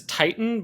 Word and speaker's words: Tieton: I think it's Titan, but it's spelled Tieton. Titan.